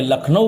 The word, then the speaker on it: لکھنؤ: جس نے ابتدائے نطق میں لکھنؤ کو نکھلو کہا تھا۔ ہمارے علاقے کے ناخواندہ ہنوز نکھلو کہہ سکتے ہیں۔ یہ غلط تلفظ لکھنؤ سے جغرافیائی دوری، تہذیبی بے